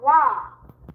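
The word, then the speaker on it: は: So, it's written as ha in hiragana writing. But, it's pronounced as wa.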